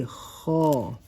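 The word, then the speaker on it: ح: sound straight come back down and around say halt say haw haw has a duck on top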